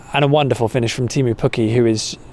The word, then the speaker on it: Teemu Pukki: And a wonderful finish from Teemu Pukki, or Teemu Pukki, I think it is pronounced, as Mr.